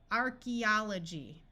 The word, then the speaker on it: archaeology: that is completely confused archaeology AE says e in this word and here we have